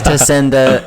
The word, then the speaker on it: Tacenda: And we looked up pronunciation. Yeah, it is Tacenda. Anyone who says differently is saying it wrong.